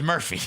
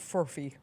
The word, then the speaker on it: Furphy: I thought it was Murphy. It's Fury. All right. Shout out to the F dog. Not Furby, not Murphy, but Fury.